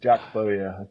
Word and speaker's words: Bowyer: Jack Bowyer. Number of Oh, different as in pronunciations people go Lee with.